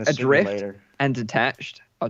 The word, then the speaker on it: ADR1FT: In 2016, a game called Adrift launched. That's spelled ADR1FT.